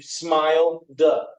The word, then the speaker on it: smiled: that du right there just like smile which ends in the L the love so it takes the DU you smile du smiled or open which takes that